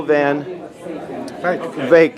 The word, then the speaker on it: Van Wyk: And I'm speaking to one of the speakers who is Van Wyk, thank you, rhymes with lake.